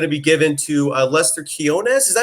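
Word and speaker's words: Quiñones: Quinones. Yeah. So like Quinones. Quinones. Okay, Q-U-I. there are two N's in there. That's what makes it confusing.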